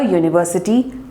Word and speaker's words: university: So we say a university, a one-day match, a euro, and not an university, an one-day match, an euro.